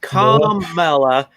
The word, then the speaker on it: Kamala: yeah it's not good it's it's column mela com as in communist communist carmella that's